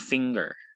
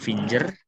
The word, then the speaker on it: finger: Kembali ke ini FINGER, itu cara pengucapannya seperti singer. Yang ini ya, driver, singer, teacher. Itu susunan huruf-hurufnya kan mirip ya. Cara pengucapannya pun mirip. Nah, jadi jangan terbawa orang-orang di sekitar kita gitu ya. Terbawa ke dalam kelas bahasa Inggris maksudnya ya. Cara pengucapannya ya yang betul finger, singer, finger, singer, bukan finger.